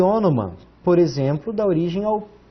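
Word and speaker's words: ὄνομα: O, um N, que parece o V, mas é o N, outro ômicron, um Mi e o alfa. Ônoma. Ônoma significa nome. E ônoma, por exemplo, dá origem ao pronome, aquilo que substitui o nome.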